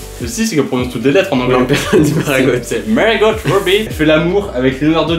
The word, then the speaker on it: Margot Robbie: Il y a à l'intérieur de ce cerceau une actrice qui s'appelle Margot Robbie.